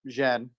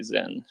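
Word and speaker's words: Xen: z but um like replace x with a z in your mind and just say Zen got it so it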